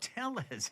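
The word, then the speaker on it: Tellez: Robert Telles.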